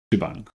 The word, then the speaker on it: shebang: referred to as bang so if you pronounce it it's shibang uh what this line